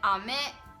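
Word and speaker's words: 飴: one is which, but there is a difference in how you pronounce the word with intonation. So one is like ame and one is ame. Oh yeah. So I think rain is ame. The going down, going up.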